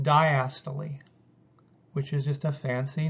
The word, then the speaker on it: diastole: see up here this is pronounced diastole which is just a